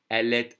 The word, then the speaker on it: elle est: Elle est assise par terre. If I say it slowly, I would connect the T to the A. Otherwise, the T is silent.